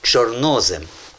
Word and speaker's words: чорнозем: Правильний наголос в цьому слові. Чорнослив і чорнозем.